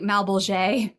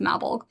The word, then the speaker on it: Malbolge: I almost was like Malbolge, but I'm pretty sure it's pronounced Malbolge.